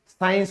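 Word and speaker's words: science: विज्ञान की अंग्रेजी क्या होती है, साइंस होती है। यहां क्या है, सी साइलेंट है, तो इसीलिए ये सीधा क्या बन जाता है, ये साइंस बन जाता है। ठीक है ना दोस्तों, क्योंकि सी साइलेंट हो गया।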